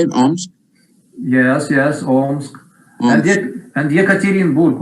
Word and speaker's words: Omsk: Omsk?